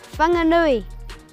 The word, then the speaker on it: Whanganui: Maori and from here the correct way to pronounce this place would be whanganui Nui moldy stuff's Kawaii